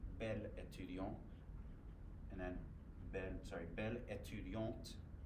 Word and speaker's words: étudiante: Belle étudiant, and then belle étudiante. Pronounce the T, so we know it's feminine.